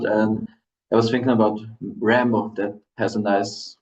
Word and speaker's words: Rämbow: right exactly yeah and you PR pronounce it as so it's really Rambo exactly because yeah yeah